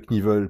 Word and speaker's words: Knievel: Et c'est aussi, à ma connaissance, le seul cas de figure où, dans la langue anglaise, on prononce le K devant le N. Donc surtout pas à faire avec le moteur Knucklehead, que beaucoup prononcent Knucklehead. Là, on ne le prononce pas. En revanche, avec le cascadeur Evel Knievel, il faut le prononcer.